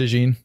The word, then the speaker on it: DeJean: How'd you pronounce Cooper it? DeJean.